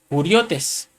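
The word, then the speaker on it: κυριότης: Y esta palabra señorío, hermano, es la palabra griega del número Strong G2963, que se pronuncia kuriotes, que significa dominio colectivo, es decir, gobernadores.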